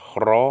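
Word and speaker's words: rho: Incidentally, the P looking letter ro, which is an R, actually heads up the word for Rome.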